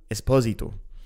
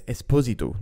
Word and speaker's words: Esposito: around flute Superstar Nicole Esposito notice the pronunciation there by the way it's Esposito not Esposito it's Italian not Spanish I mess up a